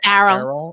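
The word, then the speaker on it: Errol: was this guy nam I don't know how to pronounce that so I'm gonna say Earl but that makes me think of Earl the din it's arol okay than arol musk was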